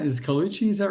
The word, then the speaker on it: Colucci: How do you pronounce it? Is Colucci? Is that right? Yeah, Colucci. That's right. Colucci.